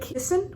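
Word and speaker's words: küssen: And then the last one is U, which is pronounced like U, like kissen, which is to kiss someone.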